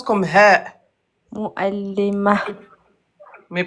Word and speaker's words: معلم: معلمة. Pas mal, c'est bien. Continue. Un enseignant. معلم. معلم. Ah, tu vois, quand tu forces, tu arrives à prononcer l'Aïn.